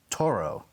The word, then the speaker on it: Thoreau: the margins of which he phonetically writes out Thoreau with the accent on the first syllable as opposed to the second. We grew up in Massachusetts, as did Lois, and we all grew up saying Thoreau. Yeah. There's French scholarship that says that it's Taureau.